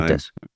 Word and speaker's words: Fuentes: I think of people like Candace Owens, Nick Fuentes, I don't know how you pronounce his name. Fuentes.